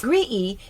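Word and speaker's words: Graeae: three of them and since gree is spelled g-r-a-e-a-e it appears that they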